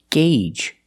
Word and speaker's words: gauge: word is this word it's pronounced gauge that's right the Au makes a long a sound gauge the long a like in day and say and pay Gage the first G is a hard G sound followed by the long a gay and the second G is the J sound like in juice and jump together gauge you have one gauge